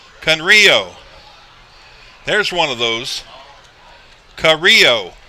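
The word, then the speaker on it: Camillo: there's one of those carrillo is how you pronounce it it's spelled c-a-m-i-l-l-o that's pretty cool so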